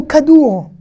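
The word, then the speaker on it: כדור: Comme le bet, quand le kaf est au début d'un mot, il se prononce toujours que. Il y aura toujours un point. Par exemple, ici, kadour, il y a un point parce que c'est au début du mot.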